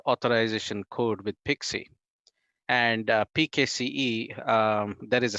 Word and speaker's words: PKCE: but pixi stands for proof key for code exchange or pkce it's pronounced pixi and there is a